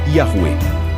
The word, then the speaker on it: Yahweh: Em português, surgiu a forma Javé, e entre estudiosos modernos é comum encontrar a reconstrução Yahweh, pronunciada como Yahuwah.